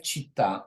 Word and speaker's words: città: Now in number nine, we have città. All the nouns with the stress on the last syllable do not change in plural number.